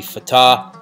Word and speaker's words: Fatah: Now, the way we would read this in the English letters and pronounce it would be Fatah. However, when you're looking at the Arabic letters from right to left here, what you're going to see is an F-T-H or F-T-H.